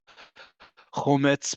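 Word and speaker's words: חמץ: Why is chometz, I don't know which word you're referring to, is accentuated in the one before the last syllable? Chometz, perhaps. Chometz is how you pronounce it in modern Hebrew.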